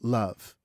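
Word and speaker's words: Loev: It's called Love, but it's spelled L O E V. Oh yes. Um e lo but it's still pronounced love love.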